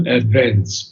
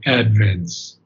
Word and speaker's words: advents: And it is advents, not advents, but advents. Accent is on the first syllable.